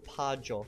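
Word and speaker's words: paĝo: The word for page is pajo. And it's spelled... It's pajo. And it's spelled P-A-G with a little hat on top of it.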